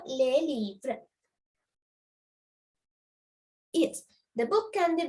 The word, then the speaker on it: les livres: Yes, S is silent because here it is a consonant, not a vowel. So les livres.